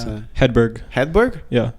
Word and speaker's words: Hedberg: Hedberg. Hedberg? Yeah. No G in there. I think there is a G, but you don't pronounce it.